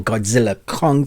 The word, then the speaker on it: Godzilla x Kong: the new Empire or Godzilla Kong the new Empire because actually the ex is silent just like Hunter Hunter you don't say the X in between for those that are